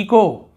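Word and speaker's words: echo: यहाँ पर देखिए इको, एच को नहीं पढ़ रहे, इको, लेकिन लिखेंगे जरूर इको यानी प्रतिध्वनि जो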